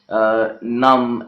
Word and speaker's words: numb: Therefore, for the ease of speaker, the second sound, the B sound, has been eliminated from these words like lamb, calm, bomb, numb, and climb.